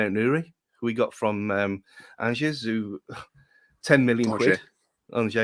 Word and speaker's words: Angers: Angers. That's how you pronounce it. Yeah. Sounds like orange, but yeah.